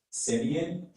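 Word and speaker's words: simian: Simeon is an adjective. Simeon is the only pronunciation I have here.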